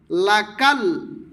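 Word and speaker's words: لك: পুর করে বলবে রাব্বানা লাকাল লাকাল ছোট কাফ বাংলায় ক আকার কা ল কাল লাকাল লাকাল হামদ হামদ হামদ মানে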